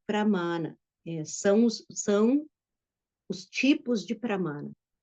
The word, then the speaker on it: pramana: Na verdade, a palavra é pramana. São os tipos de pramana. Então, pramana, essa palavra, ela tem lá no meio dela essa raiz, essa sílaba, ma, com um A longo.